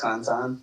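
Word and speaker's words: Cantan: spell it out can tan it's pronounced Kantan but uh and then I have a podcast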